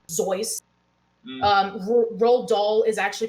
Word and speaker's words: Seuss: Dr. Seuss's name is technically Dr. Zeus.